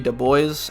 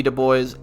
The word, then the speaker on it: Du Bois: Du Bois, I think is how you say it, a more radical black leader.